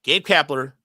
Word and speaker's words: Gabe Kapler: cat kler G I said it wrong again Gabe kapler and Tony Clark all I'm sorry and I'm